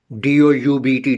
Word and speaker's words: doubt: In, for example, doubt, D-O-U-B-T, doubt. And doubt, for example, is the meaning of doubt is suspicion. We have some doubt about something. So D-O-U-B-T in this word, B is silent.